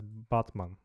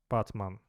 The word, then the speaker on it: Batman: But most of all, I'd love to meet Malum Kishi, the one who We pronounce it as Batman. Batman. But it's the same name as the superhero Batman.